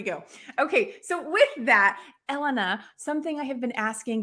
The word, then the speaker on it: Elena: Well, Elena, and I want to say to everyone that that yes, Elena's name is pronounced Elena, not Elena.